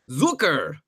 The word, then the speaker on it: Zucker: Yeah, Zucker rhymes with Snooker.